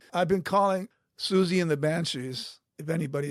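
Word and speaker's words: Siouxsie: and she was getting her older sister a present, and she brought up the Susie and the Banshee album. She goes, I'll take this Squeegee and the Banshees album for my sister.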